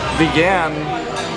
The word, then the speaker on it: Vigan: No, you're pronouncing that wrong. Vegan longanisa.